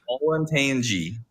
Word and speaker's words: Olentangy: How the fuck do you pronounce that, Zach? Olentangy.